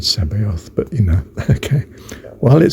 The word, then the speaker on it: Sabaoth: And it says, yes, you're likely thinking of the name Sabayotth, pronounced Sabayotth. Sabayotth. I'd have said Sabayoth, but okay.